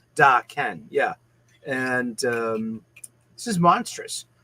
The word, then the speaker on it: Daken: Is it Deacon or is it Daken? And she was like, no, it's Daken.